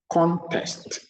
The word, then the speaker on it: contest: The first word above contest is a noun, and it means a game or competition. We pronounce it by putting the stress on the first syllable, contest. Compare it to the following, contest, contest. This time, the stress is on the second syllable. In this second word, the syllable is on the second, okay, so the stress is on the second syllable. And it means to argue against something, to contest.